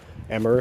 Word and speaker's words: Amur: common around here is called uh emmer honeysuckle I think it's pronounced a m Ur and it's it's everywhere